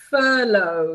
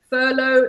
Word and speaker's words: furlough: word it's we say furlough so this is how I pronounce this word as you can see furlough silent gh silent G H and the long oh yes oh it's a